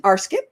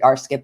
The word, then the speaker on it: RScP: Betty cook and she is an arsip that's religious science practitioner my late husband pronounced it arip and I loved it so I just stuck with it and I'm G to